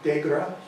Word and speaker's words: Dager: actually, by the way, it's a French name. He was a French-Canadian from Quebec. And it's actually pronounced Dagra, or Dague. And if you get it and do it on your phone, you'll hear different pronunciations, but Dager is how we say it.